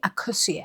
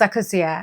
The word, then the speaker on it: Akosua: Akosia. I'm just saying that because a lot of people will ask, how do you say your name? Like, how do you say your name? It's Akosia, okay? Akosia.